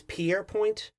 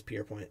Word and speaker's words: Pierrepoint: I'm gonna say that so it's peer Point pretty sure that's how you say it I'm gonna call him Albert the whole time because pierpoint is annoying to say